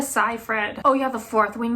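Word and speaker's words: Seyfried: How do you pronounce her last name? Amanda Sai Fred.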